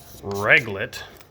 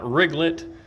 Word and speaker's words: Reglet: is what's called Fry Reglet, which if you try to use voice speech-to-text, it will never get that right for some reason. That is Fry Reglet. Not Riglet. Not Regret. Not Uh I don't know.